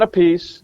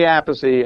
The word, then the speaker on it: Appice: Hey, everybody, this is Vinny Appice, not Appice, not Appice, but Vinny Appice, and you're listening to the Nothing Shocking podcast.